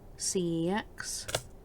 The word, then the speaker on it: CeX: electronics it's called uh cex yeah just how it's spelt c e x and my husband always